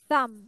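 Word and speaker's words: thumb: So এই ফিঙ্গারটাকে বলা হয় থাম। কি বলা হয়? থাম। মানে বি এর উচ্চারণটা হবে না, থাম হবে, কিন্তু স্পেলিং এ বি থাকবে।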